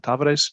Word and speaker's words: Tavares: think because as it ian keeps correcting us in the pronunciation we should call them tavares just thanks about it